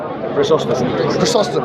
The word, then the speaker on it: Chrysostom: Yeah, I read John of Chrysostom. Yeah, is that how you pronounce his name? Chrysostom.